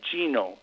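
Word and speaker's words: Gnomon: I went to Gnome, which is it's spelled G N O M as in Mary O N, Gnome.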